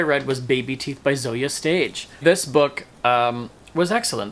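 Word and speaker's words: Zoje Stage: next book I read was baby teeth by Zoya stage this book um was excellent this book tells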